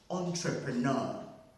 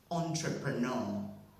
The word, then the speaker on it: entrepreneur: me pronounce that again entrepreneur good so the word is having four syllables and with two stresses which is um second stress on the first syllable and primary stress on the last syllable that's why i like